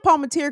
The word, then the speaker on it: Palmatier: Ryan Palmatier, even though I've heard his name pronounced a couple of different ways in the press, I've heard Palmater. I'm saying Palmatier because I actually went to school with someone with the last name of Palmatier.